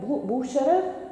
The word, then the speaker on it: Bucherer: sorry for my verbs couples so these buildings is managed by butcher and boo boo sure is the right pronunciation and you have how many brands inside